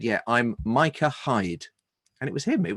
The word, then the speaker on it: Micah Hyde: that one for Watford is pronounced Micah Hyde. It's not Mika, it's Micah Hyde.